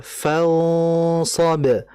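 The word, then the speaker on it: فَانْصَبْ: tadi bacanya masih faidza faragta faragta farag harus faragta farag itu kemudian kedua adalah fansob fans kita harus menebalkan huruf sadnya ikhfanya kita ketahui bersama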